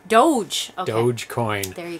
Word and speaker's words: Doge: Is it supposed to be pronounced I looked it up. Coin? It's Doge. Doge.